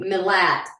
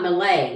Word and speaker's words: Milat: And this is our second case covering Ivan Milat. And it's Milat. We've been corrected, but we've got a message later. Someone corrected us on... Milat. Yeah, not millet. Okay. And not Malay either.